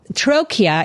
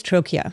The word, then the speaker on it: Trochia: And it might be helpful, Kayleigh, for us to stop for a minute and say, what is Trochia? Yeah. And by the way, it's sort of pronounced like trachea.